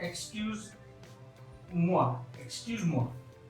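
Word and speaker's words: moi: ये है एक्सक्यूज मुआ, एक्सक्यूज मुआ। मुआ की अगर मैं बात करूं तो ये OI मैंने समझाया था आपको, प्रोनाउंसिएशन क्योंकि आगे आती रहेंगी। OI, मुआ, मुआ, एक्सक्यूज मुआ।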